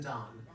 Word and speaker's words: Dan: Oh, It's spelled D-A-N as in Don. Like the hotel. Yes, the Don Hotel. Okay? I always called the Dane.